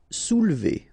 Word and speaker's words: soulever: Soulever. Okay, don't insist here on the so OU, you will get OU, soulever.